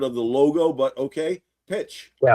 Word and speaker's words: Pxch: So, uh, anyone have anything else they want me to address before I kind of What's the correct pronunciation of the company? Pitch. Pitch. Like pi t.